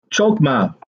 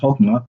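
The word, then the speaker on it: חכמה: Chokmah is a Hebrew word. Hokmah, it's actually pronounced Hokmah. The C is silent.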